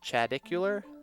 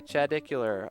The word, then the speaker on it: Chadicular: Is it Chadicular? Yes. Okay, Chadicular.